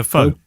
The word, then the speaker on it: faux: file full as it how would you pronounce that fa ux yeah pho pho as in faux leather yeah uh i already